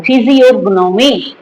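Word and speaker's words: physiognomy: সেটাকে বলা হচ্ছে ফিজিওগনোমি জির উচ্চারণটা মিউট হবে ফিজিওগনোমি number seven state of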